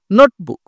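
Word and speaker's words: notebook: হচ্ছে একটু জোরে হবে নোটবুক এরকম বলবো না আমরা যে নোটবুক এরকম না আমরা নোটবুক একটু জোরে হবে এই নোট তারপর হচ্ছে বুক তোমরা কি করতে পারো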